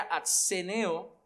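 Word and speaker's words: ἀσθενέω: Pero la realidad es que la palabra griega aquí, que más o menos se pronunciaría atseneo, esa palabra significa muy débil o fatigado, pero se puede usar también a nivel espiritual.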